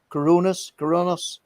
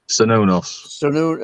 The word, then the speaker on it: Cernunnos: I noticed you have tattoos of the Coronas. Have I pronounced that correct? Cernunnos.